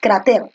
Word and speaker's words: cráter: que termine ese adiós cráter tú dices cráter o tú dices cráter es cráter no entonces es una grave y se tilda porque